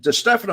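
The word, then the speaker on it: DeStefano: D we called him we didn't call him Sam to Stefano we call him de Stefano is the right way to pronounce it but uh we called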